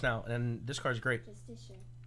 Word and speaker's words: Justiciar: I can't actually pronounce this word. Justiciar. Hold. Justiciar.